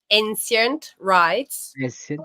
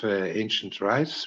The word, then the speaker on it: Ancient Rites: Ancient Rites. Ancient Rites, quindi Ancient. Non è così diverso da come lo pronunceremmo noi italiani.